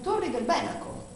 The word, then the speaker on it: Torri del Benaco: chiamavano benacus E difatti Io conosco persone che abitano Tori del Benaco ma loro però lo pronunciano Torri del Benaco Come mai cosa mi